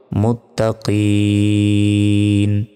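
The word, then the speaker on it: المتقين: তো মাদের অক্ষরের পরে থামলে 3 সেকেন্ড টেনে পড়তে হয়, এবং যেখানে থামবো সেই শেষ অক্ষরে একটি সাকিন দিয়ে উচ্চারণ করতে হয়। উচ্চারণটা হবে মুত্তাকিন, হুদাল্লিল মুত্তাকিন।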